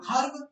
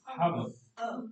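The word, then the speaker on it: herb: guess हन just हब क्या pronunciation होगी हर्ब कभी नहीं होगी अगर है साउंड आप प्रोनाउंस कर भी रहे हो तो बहुत स्लाइट से ऊपर जाएगा वो तो हर्ब नहीं होगी बस हब ठीक है नेक्स्ट वी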